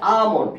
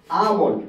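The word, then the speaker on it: almond: না এটার উচ্চারণ হবে আমন এটার উচ্চারণ হবে আমন এল এর উচ্চারণ হবে না অর্থাৎ এম এর আগে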